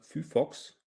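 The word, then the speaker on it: phyphox: Da kam auch schon eine Antwort, Fufox. Ist das korrekt? Habe ich das richtig ausgesprochen?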